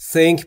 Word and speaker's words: think: صحبت کردن فکر کن دوستان تلفظ تی اچ درک رو دقت بکنید. زبون پشت دندون بالا سعی می‌کنیم بگیم سه سمیه think بیور ت think بورک